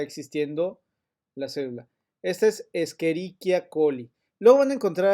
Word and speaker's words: Escherichia: y que les dice escherichia nada eso huyan de esa gente ok se llama escherichia porque es latín y la ch se pronuncia como si fuera una c escherichia coli es la